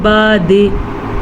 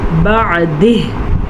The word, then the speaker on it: بعد: جیسے کہ بعض لوگ وقف کرتے ہیں بعد, نہیں, بعد. عین کو واضح کریں اور ہا کے تلفظ کا دھیان رکھیں.